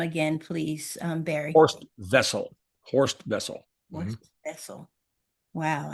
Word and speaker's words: Wessel: It's pronounced with a V, as the Germans pronounce it.